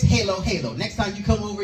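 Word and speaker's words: halo-halo: from Hawaii she said you pronouncing it wrong it's Halo Halo next time you come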